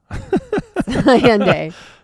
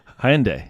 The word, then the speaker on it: Hyundai: I feel like Hyundai. Is that how you say it? Hyundai. No, Honda. You're trying to say Honda. It's not Honda. Hyundai. Hyundai.